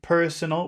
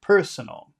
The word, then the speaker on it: personal: so personal okay personal where's the accented syllable in that word personal personal personal son that would be person is that the correct way to say that word person so no so per per personal initial personal personal personal any other